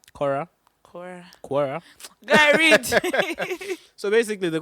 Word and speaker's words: Quora: So the question is from, please, how do you pronounce it? Quora? Cora. Yeah. Cora.